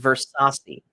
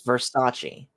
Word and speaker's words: Versace: Versace rhyme with C it's a chi sound at the end not C and it's not pronounced Versi it's Versace okay who oh here's